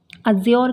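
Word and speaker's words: adjure: है फोर है तो अजोर का मीनिंग क्या होता है तो अजोर का मीनिंग जो होता है यहां पे डी आपकी साइलेंट है तो अजोर का मीनिंग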